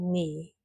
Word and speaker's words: knee: And K, knife, no, knee.